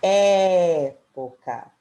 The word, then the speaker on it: época: o som é aberto época enquanto na palavra prêmio o som é fechado agora na letra B